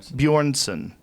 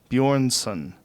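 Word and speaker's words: Björnsson: do you say that name Hoffa for Julius bjornsen Yorn son six foot nine half Thor yeah he's six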